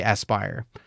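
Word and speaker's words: Aspyr: wound up at asper aspire aspire is that how you say it aspere asp it's probably aspire um so the fact that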